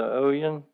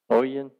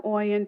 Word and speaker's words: Oyen: Oan. How do you pronounce you? Oen. You you were close. Everybody mispronounces it.